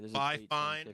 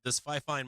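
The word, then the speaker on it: FIFINE: But this Fi-Fine microphone is banger. If you look up I think it's spelled F-I-F-I-N-E.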